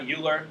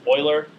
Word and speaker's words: Euler: His name is pronounced Euler, not Euler. It's Euler.